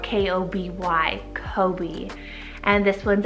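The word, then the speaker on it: Koby: Then we have Kobe, spelled K-O-B-Y, Kobe.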